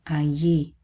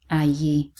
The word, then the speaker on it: allí: And then again the double L here and the stress on the I, allí, allí.